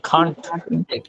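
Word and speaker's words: can't: এখানে হবে ক্যান মানে কয়েকার কে, আর এখানে হবে কয়েকার কা, কান। অথবা আপনি বলবেন খান।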